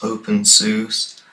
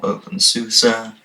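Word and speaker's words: openSUSE: Okay, our final advanced distro before we move on to the expert ones is open sus or open susa, however you want to pronounce it.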